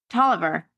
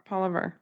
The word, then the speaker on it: Tolliver: Her son, I'm going to butcher how to say this, Tolliver. Oliver. Yeah. It's a T.